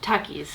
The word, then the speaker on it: Takis: store, I saw they had a bunch of Takis. Am I saying it right? Takis, yeah.